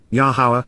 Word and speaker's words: Yahowah: he took a stand in the presence of yahwah the pronunciation of yahwah as Guided by his Torah